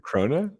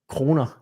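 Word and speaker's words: krone: So, how do you pronounce it? Crona. Crona. Yeah. Corner. It's actually the same word as crown. Like the thing that you put on your head because like Danish monarchy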